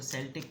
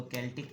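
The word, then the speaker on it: Celtic: निकालते हैं पता नहीं कुछ लोग इसको सेल्टिक कहते हैं कुछ इसको केिक कहते हैं I will go through it एंड I will pronounce it again universal के tarot I think it's सेल्टिक but correct me इफ आई एम रोंग चलिए true intention of your person towards you.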